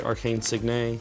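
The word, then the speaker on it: Arcane Signet: I'm going to pay green and blue, and I'm going to play Arcane Signe, which is the proper way to say it.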